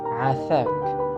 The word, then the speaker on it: afak: Next common expression is afak. Afak, which means please. And it works for both genders, masculine and feminine. And if it was hard for you to say letter A in the beginning, you can just say